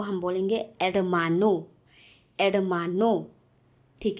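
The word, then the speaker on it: hermano: है वो एडमानो है, लेकिन मैं यहाँ पर एच को प्रोनाउंस नहीं कर रही हूँ, ई से प्रोनाउंस कर रही हूँ। क्यों? क्योंकि एच जो है वो स्पेनिश लैंग्वेज में एक रूल है जो बहुत इम्पॉर्टेंट है। स्पेनिश लैंग्वेज में एच जो है वो हमेशा साइलेंट होता है।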